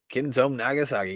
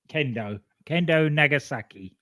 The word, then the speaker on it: Kendo Nagasaki: Kenzo Nagasaki. He can't be stopped. Did I say it right that time? Kendo Nagasaki.